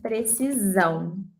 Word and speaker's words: precisão: Precisão with a Z sound.